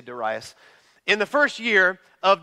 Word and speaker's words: Darius: Bible says this in the first year of Darius or daras which is the correct PR pronunciation but it's just weird to say daras in the first year of dasas the me